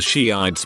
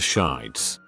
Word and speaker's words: Shiites: I remember in high school one girl was giving a presentation on something and kept mentioning the Shiites but pronounced it shites for her whole 10-minute thing.